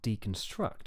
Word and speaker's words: deconstruct: original stress too so a word like deconstruct for example the original word is construct and that has a stress on the second syllable construct therefore we keep that struct stressed and we get deconstruct construct so construct deconstruct